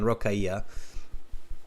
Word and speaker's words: Rokaya: from India Delhi okay so I'm pronouncing it okay then rokaya yes okay I was a